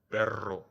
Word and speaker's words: perro: And the famous Spanish double R, double R, rolling R, perro.